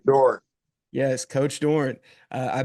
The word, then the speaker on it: Doeren: You go and Doeren, am I pronouncing the Hey, name? Doran.